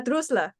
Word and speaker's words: Droessler: correct me if I say your last name wrong. Droessler.